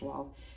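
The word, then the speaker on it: Wahl: a whale and um or i think it's pronounced wall um arko is the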